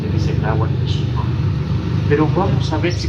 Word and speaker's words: México: Pues más o menos pasa esto mismo con la palabra México, que aunque lo escribamos con X, lo pronunciamos con J, y también lo hemos acortado un poco, lo hemos castellanizado.